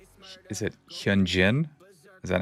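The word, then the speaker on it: Hyunjin: I'm gonna say I'm going to pronounce his name wrong. Is it Hyan Jin?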